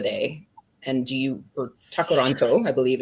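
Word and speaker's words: Tkaronto: So there was a protest in Toronto on Canada Day and do you or Takaranto I believe is the indigenous pronunciation.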